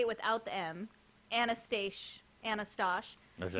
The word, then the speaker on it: Manastash: Okay, so I'm going to say it without the M. Anastash. Okay. Manastash. Manastash Gardens. If So you take big the M shout off, out to it's less Manastash Manastash.